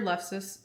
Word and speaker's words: lefse: Then your lefse.